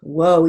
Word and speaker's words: whoa: WH long O, whoa, even though it's spelled WHOA.